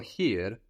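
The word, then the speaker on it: hier: and that's to stay the word for here in German is here here and this is spelled h i e r so i e gives us e where EI I gives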